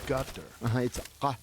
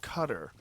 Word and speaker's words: Qatar: You said gutter. It's back here. It's called a qaf. But so I've heard cutter. Yeah, it's not cutter, but you're saying it like a G? They use a G sound.